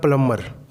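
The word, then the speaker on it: plumber: अपने Boss कैसे करेंगे प्लंबर यहां पर बीन साइलेंट है और बीच से पहले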